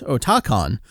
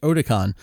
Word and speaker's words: Otakon: word online as I was getting there I pronounce it as Otakon because it's otaku and it's a convention little did I know that everyone pronounced it Otacon and yeah that was a bullied out of